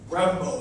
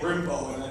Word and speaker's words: Brembo: and we had a couple customers from ed power and brembo i was going to say brimbo that would have been not correctly pronounced that was pretty sure